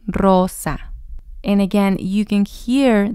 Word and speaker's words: Rosa: rolling those ores but when we have the ore at the beginning of the word it sounds like a double or as well Rosa Rosa and again you can